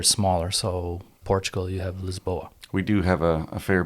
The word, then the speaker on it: Lisboa: uh lisboa rcc lisboa lisboa um the pronunciation the angle of size is lisbon but uh the proper pronunciation of the the city is lisboa i thought you didn't